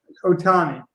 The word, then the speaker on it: Ohtani: How do you pronounce it? Shohei Ohtani. Ohtani.